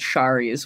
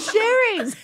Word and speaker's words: Sherry's: I, in my head, still call it Shari's, which is like totally not it. Who would do that? Because it's spelled that way. See, no, it's not. It's spelled Sherry's. Just think about it for 3 seconds. Good old Shari's. You know. Rhymes with pies.